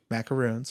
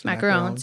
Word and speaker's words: macaron: Macaroons. Macarons, yes.